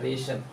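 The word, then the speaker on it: wrestle: कहा कि जब भी एस और टी और एल एक साथ आए तो शल शल भरेंगे शल य क्या रेशल रेशल पहलवान पुस्ती रेशल टी एक बार मैं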